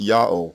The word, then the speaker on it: YA'OH: a o and I is proof in itself that God's name is pronounced yo and there is no other viable alternative y Alim Al Masha